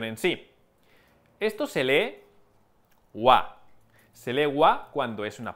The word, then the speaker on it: は: tanto la expresión en sí esto se lee ua se legua cuando es una partícula ua se lee ua sólo hay dos palabras que